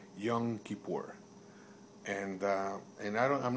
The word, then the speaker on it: Yom Kippur: tell you one thing it's actually called Yom Kippur and and I'm not